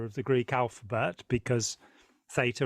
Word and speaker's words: Theta: the Greek alphabet because Theta or Theta as British say is is a Greek